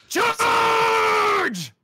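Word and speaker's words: CHAAAAAAARGE!!!: It's charge.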